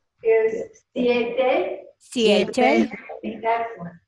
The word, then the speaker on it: siete: 7 is siete. Siete. Excellent. Siete.